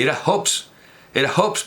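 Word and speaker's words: Hobbes: este Ops y era hobes era hobes pero no pronuncian la H también dicen Sherlock Holmes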